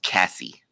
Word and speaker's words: Casse: Casse. It's pronounced Cassie.